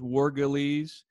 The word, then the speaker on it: Wergeles: Okay, my name is Professor Wergeles, a little bit hard to pronounce. There's 3 syllables, Wergeles.